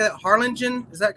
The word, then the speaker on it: Harlingen: may 27th and how do you say that harlingen is that correct yeah carla jean jackson yes